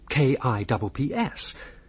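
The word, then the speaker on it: Cuyps: Well, you spell it K I P S. Consider this. C U Y P S. C U Y. No, never heard of the fella. It's you. C YS spells Kips.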